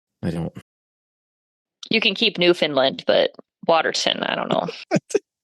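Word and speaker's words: Newfoundland: n well like we we also don't say New Foundland right like there's an entire Province we don't call it New Foundland you call it newfinland right like no just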